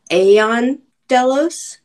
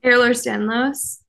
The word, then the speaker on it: Ehlers-Danlos: So when you found the company, so your history is you're a ballet dancer who has, I never pronounce it correctly, Aeon Delos. Ehlers Danlos.